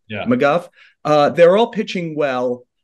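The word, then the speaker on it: McGough: recently uh Scott how am I going to pronounce his last name ago is that the right name yeah McGuff uh they're all pitching well uh you mentioned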